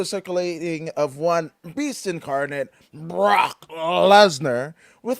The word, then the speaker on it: Brock Lesnar: didn't pronounce his name correctly. It was Brock Lesnar.